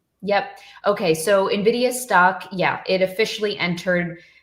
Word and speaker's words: Nvidia: Um, I always say Nvidia, but it's Nvidia, right?